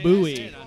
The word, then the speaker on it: Bowie: Sam Houston that is an incorrect fact it's pronounced Bowie that is it for history questions are done